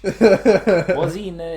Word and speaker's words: Oisin: Oisin didn't want me to show.